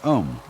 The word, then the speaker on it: om: mantras is of course the sound om. That sound is used because if you spell it out a U m, it runs from the back of your throat to your lips and therefore it contains the whole range of the voice and for that reason